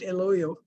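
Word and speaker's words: El Hoyo: yeah exactly thank you what's the proper Spanish pronunciation El oil my Spanish is not that great eloyo so it's a Silent Age yeah like in hola yes okay I mean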